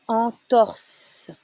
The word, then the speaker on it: entorse: Avoir une entorse. It's a S sound.